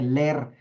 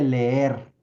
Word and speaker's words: leer: corrigió porque le dijo no se dice ler se dice leer no bueno los panistas